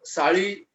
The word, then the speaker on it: SALI: साड़ी, नॉट साली. हाँ सर, SALI. I know. Yes sir, it's spelled by SALI, but it's called as a साड़ी. Yeah, there's a ल in it. थोड़ा ळ का उच्चारण नहीं होता है.